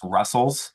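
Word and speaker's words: Rustls: R side because uh Rust TLS is now pronounced Russell.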